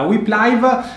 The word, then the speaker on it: Whip Live: Si legge Whip Live e si scrive WHIP Live, live, e potete utilizzare la funzione di live tracking proprio come avviene alla Dakar.